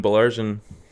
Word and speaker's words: Baillargeon: Baillargeon.